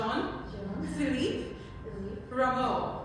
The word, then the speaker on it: Rameau: Rameau. Rameau.